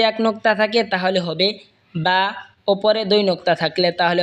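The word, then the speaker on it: باء: এরপর এটা হলো বা। বা দুই ঠোঁট হয়তো উচ্চারণ হবে বা।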